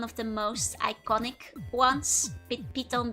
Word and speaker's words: Python: Pon being the Dutch pronunciation of Python.